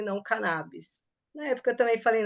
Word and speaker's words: cannabis: cannabis a sociedade fala cannabis e você usa a pronúncia canabis O que que tá correto cannabis é a pronúncia correta na verdade As duas pronúncias são corretas Eu também me questionei